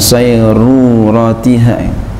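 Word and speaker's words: صيرورتها: Ada wawunya enggak situ? Iya. Ada wawunya. Harusnya begitu, enggak ada wawunya ini saya. Saya bingung bacanya. Ada wawunya. Ini yang benar ada wawunya. Saya enggak ada wawunya. Yang benar ada wawunya. Jadi bacanya ba'da sayruratiha gitu.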